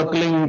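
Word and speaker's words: क्लीं: ही मात्रा और बिंदी, उसका उच्चारण होगा क्लिंग गा। गा की ध्वनि निकलेगी पीछे।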